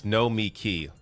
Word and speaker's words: Nomiki: You say it like Sam Cedar. It's Nomiki.